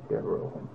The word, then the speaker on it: Devereaux: Devereaux. Okay. How do you spell that?